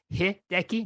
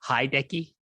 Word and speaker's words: Hideki: I say it's Hideki, not Hideki.